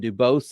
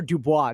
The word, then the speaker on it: Dubose: father boasts or dubois did you ask no it's dubose that's the way everyone was pronouncing it okay i'm just making sure yeah yeah because i was looking at how it was spelled and i was like are you sure it's not dubai you know what's so funny you